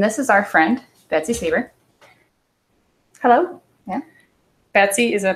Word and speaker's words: Sieber: Sieber.